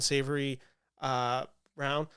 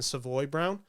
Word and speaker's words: Savoy Brown: I just don't think Jasmine Savory uh round sorry I keep mispronouncing that name it's Jasmine Savoy Brown I just don't think